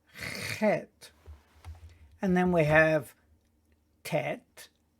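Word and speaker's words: חית: And then we have Gimel, Dalet, Hey, Vav, Zayin, Chet, which has a guttural sound. Chet, not Chet. It's Chet.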